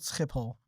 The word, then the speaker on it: Schiphol: look it up right now it's it's called skiple it's called yeah I would have said shippel